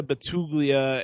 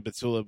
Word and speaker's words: Batula: compare this to Amanda Batugia and Wes Wilson. I I know it's Amanda Batula, but every time I hear that Dave Portoy say her name, Amanda Batugia, just makes me laugh.